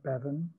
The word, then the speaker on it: Bevin: i'm saying it correctly bevin jones yeah bevin is a that would be a classic welsh name right bevin okay braun bronwyn is